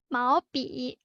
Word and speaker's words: 毛笔: It's 毛笔, 毛笔.